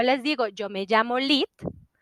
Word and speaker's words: Lihit: de ahí en adelante Me dirán lit porque así me llamo así les dije que se pronunciaba mi nombre y es una cuestión